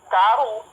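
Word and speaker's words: כָּרוּ: kalau huruf waf itu panjang. Jadi dibacanya karu.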